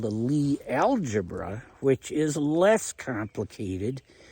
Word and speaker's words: Lie: And a big part of that is uh that I'm looking into right now is uh Lee Groups Lie E, but it's a Norwegian name pronounced Lee mathemat Norwegian mathematician towards the end of the 19th century who came up with this math.